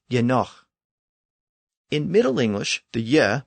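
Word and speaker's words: genōg: enough was spelled Genog, so it looked like it should have been pronounced gnog. But remember that the initial ge was the prefix pronounced ye, and the g at the end represented the guttural ch sound. So the word was actually pronounced yenoch.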